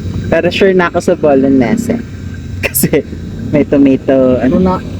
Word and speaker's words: bolognese: Of course, in English or American, you normally say it bolognese. Bolognese, like spaghetti bolognese. But the typical Italian pronunciation is quite different. In fact, in Italian they say bolognese.